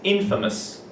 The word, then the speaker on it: infamous: Chris been famous okay that pronunciation is very important it's Infamous famous but Infamous sure and that was